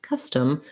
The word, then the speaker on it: custom: only syllable it's stressed but in custom custom you can hear i don't say that o as an ah or an o it actually sounds like an uh so you'll see in